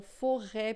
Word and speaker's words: forêt: Quando tem o circunflexo, por exemplo, né, a gente tem o som E. Então, forêt, por exemplo, né, floresta, né, a gente tem aí esse som E, beleza?